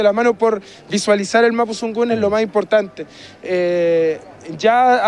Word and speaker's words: Mapuzugun: Talleres Mapu Tsungun, es Mapu Tsungun con Z, no es Mapu Tsungun como lo vemos generalmente, sino que es Mapu Tsungun, como se pronuncia, .com.